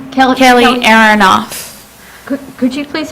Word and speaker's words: Aronoff: my name is Kelly erinoff and I forgot to sign up Kelly Arnold Kelly Kelly aaronoff could you please spell that AR on off like a light switch um I was born